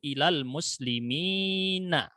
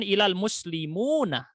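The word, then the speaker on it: إلى المسلمين: Maka bacanya nadhartu ilal muslimina. Bukan ilal muslimuna, tetapi ilal muslimina.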